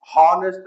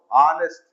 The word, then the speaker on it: honest: Honest ಅಂತೀವಿ. No, honest.